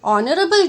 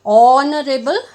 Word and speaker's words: honorable: Then an honorable judge. Here again the alphabet H is silent. An honorable judge.